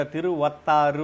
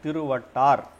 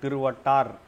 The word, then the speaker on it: తిరువట్టారు: భారతదేశమున తమిళనాడు రాష్ట్రమునందలి తిరువట్టారు ఇక్కడ తిరువత్తారు అని ఉంది నిజానికి అది తిరువట్టారు ఋ కూడా ఉండదు తిరువట్టారు అంతే దాని ఉచ్చారణ తిరువట్టార్ గ్రామమును గల ఆదికేశవ మందిరములోని